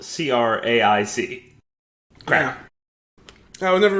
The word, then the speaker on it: craic: It's spelled C-R-A-I-C.